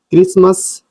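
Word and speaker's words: Christmas: शुरू में सी एच के बाद आर आए तो सी एच का उच्चारण का होता है।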